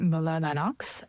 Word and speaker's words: Mueller-Lennox: Well, I'm Mueller-Lennox. If we're in Germany, we pronounce it Mueller-Lennox.